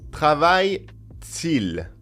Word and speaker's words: Travaille-t-il: Travaille-t-il. And we have a T surrounded by two hyphens, and it appears only to make the pronunciation smoother. It's got no other value than to help the pronunciation.